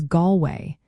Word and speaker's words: Galway: In English, Galway is pronounced as Galway. The first part, Gal, rhymes with call, while the second part sounds like way.